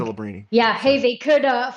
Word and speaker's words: Celebrini: with, the best odds, so Lebrani, Sabrani or whatever you want to, whatever his pronunciation, Celebrini, I think. Celebrini.